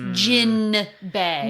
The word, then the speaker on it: Jinbe: jinbe for whale shark it is spelled with an n so it is gin bay well but they also